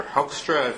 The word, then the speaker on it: Hoekstra: Republicans Rick Santorum and Peter Hoekstra that's how you pronounce it they got the the